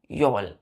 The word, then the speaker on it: yowl: HOW, हाउ पढ़ते हैं ना, हाउ। तो यहाँ पे L साइलेंट हो जाएगा, क्या पढ़ेंगे? यो। वहां पे L जुट चुका है, क्या बोलेंगे? योल। क्या पढ़ेंगे? योल।